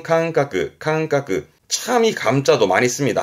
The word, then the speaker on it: 感覚: 발음은 캉까.